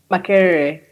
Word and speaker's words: Makerere: Can you also pronounce the university for me in Uganda? Makerere.